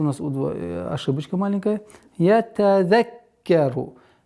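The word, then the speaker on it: يَتَذَكَّرُ: Ятазаккару. Каф, удвоение каф.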